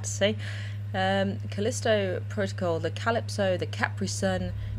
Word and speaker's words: Callisto Protocol: merely many many times it's a Callisto protocol not callistro project not calipo protocol but Callisto protocol which is uh by